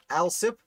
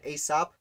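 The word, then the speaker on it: Alsop: king is hugely important al sip which i've learned i produ i pronounced wrong in the video i made i called it aesop but that is wrong a dayton yes humphreys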